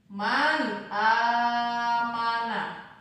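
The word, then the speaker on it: مَنْ آمَنَ: Contoh, man amana. Man amana. Cara membacanya ini dibaca dengan cara jelas, tidak boleh mendengung ataupun tidak boleh dibaca samar.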